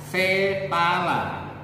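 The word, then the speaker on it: sepala: ilmiahnya adalah Paypal Paypal tulisannya paulay tapi cara bacanya fepala pahamkan sampai sini itu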